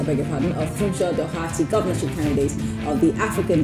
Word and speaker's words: Doherty: How's your name pronounced, Doherty or Doherty? Well, in Lagos, we actually pronounce it Doherty.